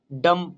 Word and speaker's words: dumb: ঠিক ডাম, আচ্ছা DUMP, না অ্যাকচুয়ালি এটা ভুল আছে, DUMB হবে, ডাম, এখানে বি কিন্তু সাইলেন্ট, ডাম।